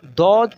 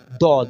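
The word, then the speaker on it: ض: Tip of your tongue, don't use tip of your tongue in this pronouncing.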